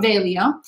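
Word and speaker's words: Veglio: alessandro velio so again that g is silent sometimes but not always but here it is alessandro velio um and it is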